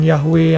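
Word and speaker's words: Yahweh: yahwe yang menyelamatkan kita tahu memang ada banyak perdebatan mengenai Bagaimanakah mempronounce eh yhwh itu W itu di dalam bahasa Ibrani namun para teolog sepak pengucapan yahwe yang paling mendekati kalau kita mau pakai secara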